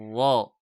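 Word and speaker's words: ر: Ce sont des vibrations du bout de la langue lors de la prononciation de la lettre. Ar, ar, ar, ar, ra.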